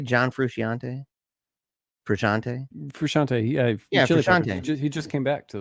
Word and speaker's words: Frusciante: I don't know how to pronounce the guy's last name. Is it Frusciante? John Frusciante? Frusciante? Frusciante. Yeah, Frusciante.